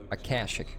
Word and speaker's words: Akashic: Akashic, okay, so I did pronounce it right. Akashic.